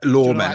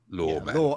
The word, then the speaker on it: Loremen: It's it's it's the podcast is called Lawman, which is spelled reviewed unboxing. Um, law men. L O R E M E N. L O R E M E N. Law men, like folk law.